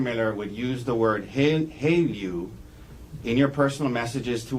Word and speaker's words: HALEU: Haleu. Haleu.